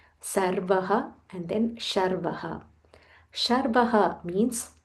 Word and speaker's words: Sarvah: Sarvah.